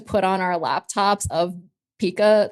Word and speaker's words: PIKAS: called a PA, but the team the the team pronounced it as Pika, like Pikachu, and we would add all of the emojis of like the Pikachus.